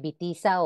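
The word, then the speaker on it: Witiza: Ejemplo, Bamba, se escribe allí con la W, pero se pronuncia Bamba. un rey fundador de reinos en España e Italia. También el nombre de Bitiza o Bitiza, nombre de un rey que gobernó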